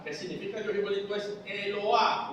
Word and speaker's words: Eloah: Una segunda palabra que significa Dios igualito es Eloah o Elohá. La H en hebreo es J, como en todos los idiomas menos en castellano. La H es J.